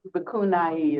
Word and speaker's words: bhikkhuni: Bikuni is how they pronounce it.